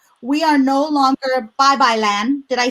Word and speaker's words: Babaylan: buy your amazing book that i'm going to pronounce right we are no longer bye bye land did i say it right the violin yes